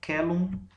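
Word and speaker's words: caelum: No latim, a letra C corresponde ao fonema que a gente pronuncia de forma oclusiva velar, assim, um K. Então a pronúncia aqui é celum spei effigies est, tá?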